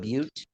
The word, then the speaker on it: Butte: to harass white miners wait are you sure it's not Butte b-u-t-t-e yeah well I'm gonna pronounce it but because it sounds better in no world does butt sound better than Butte big buttocks Crazy Horse